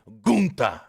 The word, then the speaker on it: Gunther: No, he said it's pronounced Gunta. He said it. He looks straight at Alicia Taylor and says, hey, it's pronounced Gunta. Not Gunther, Gunta.